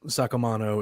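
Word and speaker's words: Saccomanno: actual last name, Mandy Sacamano. That's it. Look, from as an Italian myself, Sacamano is exactly, that's the way to say it.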